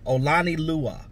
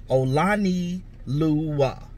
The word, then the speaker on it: Olonilua: what they all mean but yeah so it's pronounced evil on on lon oh lon e Lua Oh Lonnie Lua Oh Lonnie Lua he's a fullback but I think that honestly